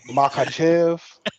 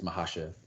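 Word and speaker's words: Makhachev: Makachev. Yes. Mahashev. No, I thought it was Makachev. No, it's versus like, the C Volkswagen. is silent. It's Mahashev.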